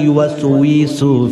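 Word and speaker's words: يوسوس: গিয়ে তার কষ্ট হয়, আমরা বলি আল্লাযী ওয়াসউইসু ফি সুদুরিন নাস, তাসবিহ পড়েছে এই জন্য ওয়া উচ্চারণ হয়। কিন্তু এমন মানুষ আছে এলাকার ভিতরে, আল্লাযী ওয়াসউইসু ফির দেখাত বলে আল্লাযী সুফিসু, ঠিক কিনা বলে না?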